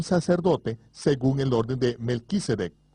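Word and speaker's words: Melchizedek: según el orden de Melquisedec o como se debe pronunciar de m sadik melek Rey sadik justicia el orden sacerdotal del rey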